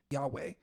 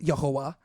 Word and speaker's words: Yahweh: they do vowels is they just put the vowels from Adonai into that. And so it's Yahovah, which is where we get Jehovah. And so we know that it's not pronounced Yahovah, but it probably was something along the lines of Yahweh or something like that.